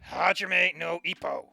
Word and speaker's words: Hajime no Ippo: Hajime no Ippo.